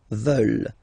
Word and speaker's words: veulent: And the last one, here, EU, and then ENT, classic ending, but then you don't pronounce it, so you get veulent.